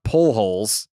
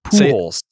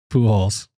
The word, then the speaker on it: Pujols: It's not pull holes. It's pools.